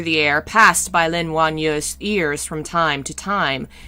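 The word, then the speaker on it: Wan: were getting even closer her name is spelled w-a-n juan a's in chinese are like father a fa like y u e but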